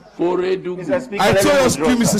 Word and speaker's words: Feredugu: Member, unless I'm hard of hearing, but what I heard was Fadugu. You may have mispronounced Feredugu.